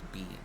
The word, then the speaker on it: Bine: Spelled B-I-N-E. Why the fuck is it pronounced bean?